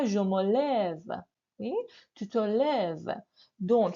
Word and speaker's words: lève: Pour la prononciation, parce que c'est un E qui est long, n'est-ce pas? Je me lève.